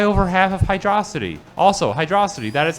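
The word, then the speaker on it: Hydrocity: can just fly over half of hydrosity also hydrosity that is how you pronounce it fight me um yeah so amazing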